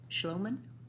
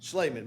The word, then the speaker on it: Schleiman: Next written request to speak is Schloman? No. All right. How do you pronounce it? Schleiman, but that's good. Schleiman.